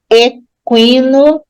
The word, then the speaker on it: equino: Enxágue, equino, o U recebia trema, mas agora não recebe mais. Equino, dá para perceber o U pronunciado.